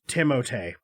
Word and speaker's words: Timothée: It's pronounced Timothée.